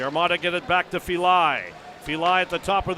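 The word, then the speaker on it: Filaj: That's F I L AJ pronounced Feli.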